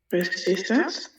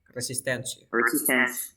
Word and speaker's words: resistance: Resistance. Pero escuchen muy bien la pronunciación. Mira, escúchenme aquí. ¿Notan algo? Me avisan, ¿ok? Assistance, assistance, assistance, resistance, assistance, resistance, assistance. Yeah, este es como con una Z.